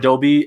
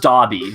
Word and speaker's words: Dobby: crush on in eighth grade and she said dobie and i lost a lot of respect for